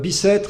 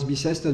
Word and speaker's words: Bicêtre: Bicêtre is just coming the route from Westminster, because